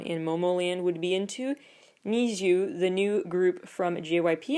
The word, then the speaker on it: NiziU: They're called Nizu because it's like supposed to sound like Need You, but it's spelled Niziu.